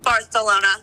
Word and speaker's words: Barcelona: wanting to fly to Barcelona do you mean Barcelona Barcelona it's how the locals say it actually um I should